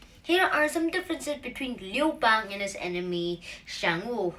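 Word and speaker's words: 刘邦: Liu Bang will be pronounced in Chinese like Liu Bang, and in Xiang Wu, it's the saying would be like this.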